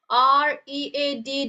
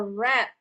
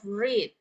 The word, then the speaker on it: read: So remember, when it's past tense of that word, you pronounce it as a read instead of read.